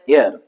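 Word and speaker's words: heir: अब इस क्वेश्चन में देखिए एच तो है यहां पर प्रेजेंट बट ये साइलेंट है।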